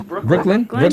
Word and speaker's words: Breuckelen: It's Breuckelen, say Brooklyn, it? yeah, it's just okay. Brooklyn. Okay, because it's spelled a whole bunch of E's in there.